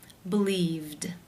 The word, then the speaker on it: believed: The infinitive form to believe ends in the v consonant sound, which is voiced. Therefore, it is again case 2, where the ed is pronounced as the d sound. Believed.